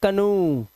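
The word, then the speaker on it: canoe: इसे पढ़ते हैं कनू।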